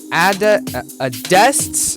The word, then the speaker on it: adexptt: So this is Keener Recordings Radio with Adest's debut. I really had to correct myself there because I keep forgetting how to say his name because, well, it just doesn't look anything like that.